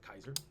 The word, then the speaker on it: Kaiser: Caesar okay oh okay I said Kaiser because technically I think would be pronounced Kaiser because C is a hard sound yeah and we just are used to Caesar so he meets all